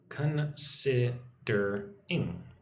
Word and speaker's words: considering: Considering considering second syllable gets the emphasis sid.